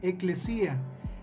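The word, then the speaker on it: ἐκκλησία: La palabra iglesia es del griego que significa o que es eclesía. Se pronuncia eclesía.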